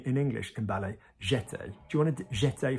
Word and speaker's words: jeté: We have jeté. Did you hear what I just said? Jeté. What do we normally say in English in ballet? Jeté.